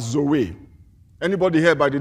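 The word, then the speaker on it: ζωή: in this verses is a Greek word that we pronounce as Zoe anybody here by the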